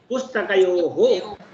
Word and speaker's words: पुस्तकयोः: हाँ जब आप पुस्तकयोः बोल रहे हैं तो विसर्ग का उच्चारण होना चाहिए पुस्तकयोः।